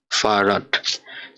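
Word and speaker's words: Fahrrad: তো এটার উচ্চারণ কিভাবে করব, এফ, আ, হা, এর, এল, আ, ডে, ফারাট অর্থাৎ সাইকেল।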